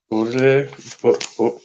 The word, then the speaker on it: Baudelaire: This is never tell if I'm pronouncing his name right. Baudelaire.